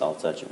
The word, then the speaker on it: Altucher: comedian like you know it's pronounced I'll touch it I'll touch it yes